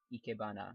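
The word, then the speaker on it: ikebana: plant that eana display I believe it's called eana yes I'm I'm pronouncing it the way Japanese would actually pronounce it so yeah that's the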